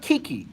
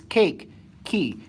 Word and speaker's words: Kiki: says my name wrong it's not Kiki it's cake key cake that you eat key that you turn put it together cake kakie okay kakie